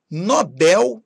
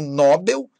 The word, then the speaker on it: Nobel: Condor e não condor, cister, Nobel e não Nobel, Gibraltar, Eiffel e não Eiffel, Hangar e Timor. Repare, então, que a sílaba tônica tem que ser a última.